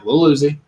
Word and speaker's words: Lil Uzi: Yeah, Lil Uzi. Okay, yeah, Lil Uzi. Yep. Little and then Uzi like the gun.